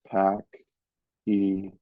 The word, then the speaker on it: pachyderm: I pronounced each syllable as Hemingway had. Pack-e-derm.